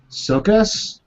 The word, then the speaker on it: Csokas: Sokas? Sokas. Marton Sokas? Martin Mull. We'll go with that. So He's Martin a Mull New was really Zealander, scary Martin in this movie. Sokas.